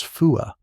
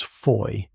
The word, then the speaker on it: Foy: Locally, it was known as Fua. To the men of Easy, shaped by the quirks of memory and mispronunciation, it was often referred to as Foy.